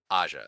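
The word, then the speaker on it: Ajah: How do you pronounce that? Aja. Yeah, Aja.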